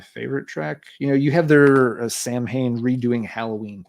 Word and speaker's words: Samhain: if I remember right, the pronunciation is supposed to be Samhain. Samhain, isn't it? Yeah. Yeah, but I never remember. That's a traditional old school way to say it.